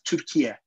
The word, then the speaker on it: Türkiye: English, and they were referring to Turkey as Türkiye in the pronunciation, the Turkish pronunciation, rather than Turkey, because of that's what the negative ministries are doing these days.